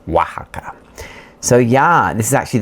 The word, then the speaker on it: Oaxaca: O and X, O X together in Mexico is pronounced like a W. So, it's Waka.